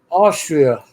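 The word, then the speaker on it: Österreich: Austria, not ostrich. It's Austria. It's spelled ostrich. It's OSTERRIO something CH. It's Austria. It's an Austrian coin. OSTERREICH. Isn't that what I just said? No, you said O. It starts with an O.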